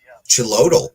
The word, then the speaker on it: Xolotl: Chilodal. Oh, okay. Wow, I was pronouncing that all kinds of wrong.